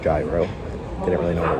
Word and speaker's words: gyro: So on the TV it says you get a Caesar salad or you could get gyro, which I now realize is pronounced gyro.